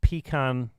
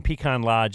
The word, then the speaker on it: Pecan Lodge: Some of Dallas's finest barbecue from Pecan, I probably said it wrong again, Pecan Lodge is headed your way. You've never said it right, so Pecan? don't start now. Pecan. Pecan. All three of you agree? Yes. Sometimes Northerners have to come down here and teach you guys the right way to do stuff, and I'm trying my best.